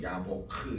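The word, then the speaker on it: יַבֹּק: 여기 특별히 약복이라는 말은 히브리 말로 야보크 이렇게 발음을 하는데 이 24절에 아까 읽었지만 24절에 씨름하다 하는 단어가 나오잖아요.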